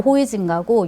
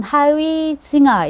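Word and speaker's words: Huizinga: 옛날 발음으로 호이징가고 요즘은 하위징아 이렇게 이제 표현을 하던데요.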